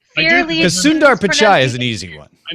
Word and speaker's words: Sundar Pichai: That one you can just pronounce it the way it looks. Sundar Pichai.